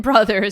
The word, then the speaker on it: broth: A moth is not a moth in mother, nor both in bother, broth in brother. So again, for pronunciation purposes, but broth, this is the liquid used to form a soup.